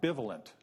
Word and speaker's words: bivalent: By the way, this is I like this is pronounced bivivalent, not bvevalent.